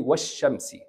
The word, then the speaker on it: والشمس: Just skip this lam. It's silent. Say washamsi.